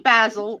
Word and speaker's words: Basil: really really smart okay Tony Basil or basil depends on if it's the the vegetable or not 1982 hit Mickey